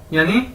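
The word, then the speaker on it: 友: और YOU को कैसे बोलते हैं? यो। ठीक है, हम कहते हैं यो मैन। ठीक है, उस तरह यो।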